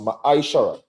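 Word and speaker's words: מעשר: You can find this in numbers 18 and verse 21 and Malachi 3 8-10 means tent in the Hebrew and is pronounced maishara.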